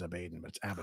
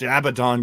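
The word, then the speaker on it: Abadon: Abaddon Abaddon from aew I always say her name is abeyton it's Abaddon God damn it I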